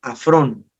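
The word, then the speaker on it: ἄφρων: Y en el griego la palabra necio viene de la palabra afrón, A-F-R-O-N, que significa sin sentido, estúpido, ignorante, imprudente, incrédulo, indocto, loco, insensato.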